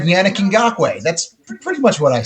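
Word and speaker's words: Yannick Ngakoue: I appreciate epic booty clappers in general, but also thank you for the phonetic pronunciation. I had it right, Yannick Ngakwe.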